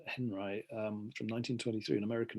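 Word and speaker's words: Henri: artist called robert uh well he pronounced it henry robert henry um from 1923 an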